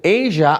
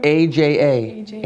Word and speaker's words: Aja: Yeah, Good, the future is in good hands with young people like Yes, Aja it's encouraging, Notte.